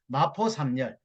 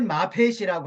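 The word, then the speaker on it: Moffett: 보니까 이제 전체적인 거 마포 3열이라고 한국식 발음으로 마포3열 사무엘 마펫이라고 하는데 이분이 전체적인 것을 주도하고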